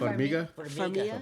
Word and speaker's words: Farmiga: Farmiga.